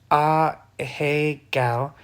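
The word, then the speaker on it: ahegao: An a gal face, pronounced a hey gal, refers to an exaggerated facial expression used in Japanese adult manga and anime hentai.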